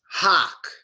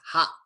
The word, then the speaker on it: hock: Hock. This word is hock. And what does it mean to hock? It's nasty. But remember, it's pronounced hak, like okay, ak.